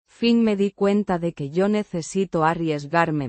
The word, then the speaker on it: cuenta: with a soft T. sound like the T in water.